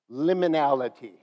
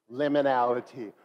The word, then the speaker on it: liminality: and then we'll talk about what it means liminality liminality what does it mean anybody have an idea